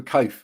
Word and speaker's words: Coath: a similar one for code because believe it or not people can't pronounce my surname right even though it's just coats with an h on the end right and believe it